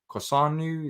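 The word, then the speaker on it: Kossounou: And also an update in terms of Kosanu. Is that how you pronounce it, Patrick?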